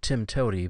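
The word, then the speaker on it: TIMTOWTDI: programming language it's a programming acronym and it's pronounced Tim toy but the actual letters are TM t w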